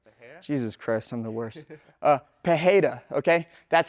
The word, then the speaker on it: Pereira: Pereira, okay?